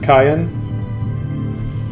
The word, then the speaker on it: Cyan: His name is localized as Kayan. Like Kane from 4? Do the near tutorial. Oh, which is how Cyan is actually supposed to be pronounced in Japanese.